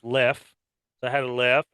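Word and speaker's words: Leffe: I had a I found out this is pronounced left so I had a left and I decided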